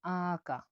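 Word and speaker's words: aka: এ কি উচ্চারণ হয়ে থাকে আ হিসাবে। উদাহরণ দেখুন, আকা। আকা মানে হলো বড় ভাই। আকা মানে বড় ভাই, উচ্চারণটা হবে আকা।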